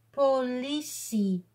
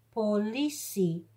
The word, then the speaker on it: politie: Hier staan geen twee puntjes op de E. Dat betekent dat we de I gewoon als I moeten uitspreken. En de T wordt als S uitgesproken. Politie. Politie.